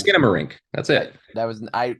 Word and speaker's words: Skinamarink: do you pronounce this it's skin don't you remember skin morenco dinky dink skinamarink a do like no it's skinamarink that's it that was